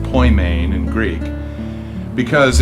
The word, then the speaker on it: Poimen: we picked the name ployment ministries which is pronounced Point main and Greek because it's the word for Shepherd